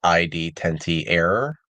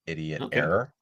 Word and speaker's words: ID-10t error: it's um I guess the way that I call it is ID tenty error or idiot error um okay yeah I